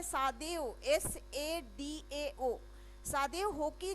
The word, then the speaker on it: Hoki: ये जो है डॉक्टर सादेव होकी जो थे, इनका स्पेलिंग है सादेव, SADAO। सादेव होकी जो है, होकी HOKI, ये जो है एक